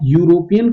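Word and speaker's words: European: Reason ये है कि जब आप यूरोपियन का प्रोनाउंसिएशन करते हो तो आपका जो साउंड है वो वाई की निकल करके आ रही है।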